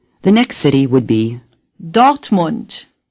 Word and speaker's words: Dortmund: Monde say docked Mont for this oh you again open your mouth a little wider than the Oh in a NOFA say oh the R is hardly pronounced dot say dot the you in Mont is like the you in Hamburg Mont say Monde say dot